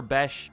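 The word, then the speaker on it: Bech: Almost 1,000 for Besh. I keep wanting to call him Beck because it's spelled Beck.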